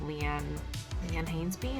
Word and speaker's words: Leanne Hainsby: I did a 30-minute pop 90s ride with Leanne Hainsby, is how you can pronounce her name.